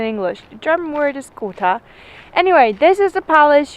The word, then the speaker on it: Gotha: How do you pronounce it in English? The German word is Gotha.